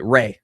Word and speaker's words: Rea: Ray. It's just Ray.